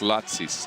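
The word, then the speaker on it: Lācis: He's like, yo, love you guys, but you're saying the name wrong. Latzis. Latzis.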